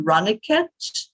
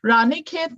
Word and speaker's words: Ranikhet: I've been trying to pronounce some of these. And Jasmine says that ashram is near Raniket. Okay, Ranikhet, ma'am, is should be around 1,800 to 1,000 kilometers.